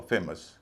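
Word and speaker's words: famous: फेमस में OU बाद के हिस्से में है, इसलिए उसको जोर नहीं दिया जाए, फेमस।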